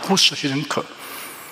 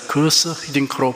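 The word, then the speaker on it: Guus Hiddink: 월드컵에서 우리나라 축구 감독을 맡았던 히딩크 감독의 이름이 처음에는 구스 히딩크 등 몇 가지로 불렀습니다. 결국 본인의 요청에 따라서 거스 히딩크로 부르게 되었습니다.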